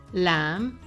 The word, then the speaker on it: lamb: to a silent k b is also silent before T and also after M for example doubt tomb lamb or comb the letter W gets